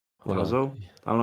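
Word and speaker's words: László: I think his name is Lasso, right? Hold on. Lazo. I don't know how to pronounce it. I'm forgetting. Laszlo, yeah, Laszlo.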